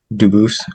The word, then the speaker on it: Dubus: Dubis present? Dubis. I am Dubus. Um, Dubis is the English pronunciation. Dubus is the original French.